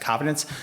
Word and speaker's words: Covidence: When you start pulling the articles, I like I like Covidence, which is actually pronounced Covidence.